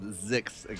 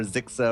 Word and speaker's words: Zix: Zix, guys. That is how we're going to refer to that. No more Zixa or Zizix or anything like that.